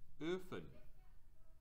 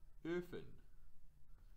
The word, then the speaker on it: Öfen: Then we have Öfen. Öfen. You hear how that Ö, Öfen? It's pronounced a little bit higher and a little bit further back in your mouth. Öfen.